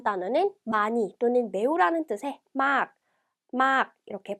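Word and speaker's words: มาก: 네, 다음 단어는 많이 또는 매우라는 뜻의 막 이렇게 발음하고요.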